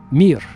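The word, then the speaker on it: мир: In Russian, it's the the word mir. M I just three letters. Mir just like the space station. Remember the Soviet space station called mir.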